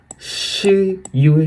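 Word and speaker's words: 十月: अब अक्टूबर को हम लोग चाइनीज में कहेंगे शी युए।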